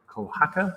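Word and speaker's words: Kohaku: um and i'm not sure i'm going to pronounce this correctly but i we played kohaka you finally did yes i did i pronounced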